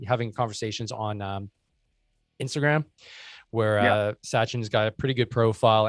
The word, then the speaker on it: Sachin: It's Sachin, right? I'm pronouncing it right. It's not Shashin or anything funky like that. It's Sachin. Yeah.